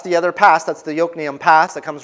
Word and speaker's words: Yokneam: That's Yokneam. Okay? It's spelled Jokneam, but pronounced Yokneam.